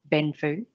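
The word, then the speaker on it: 奔富: the judge went because if it is read out loud orally it would be pronounced benfu and so the judge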